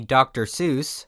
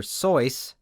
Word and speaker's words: Seuss: it that way and geisel himself eventually switched to the anglicized version dr seuss was one